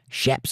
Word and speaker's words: chaps: Amy says, "Chaps is tech technically pronounced chaps." Correct. Shaps and Latigo.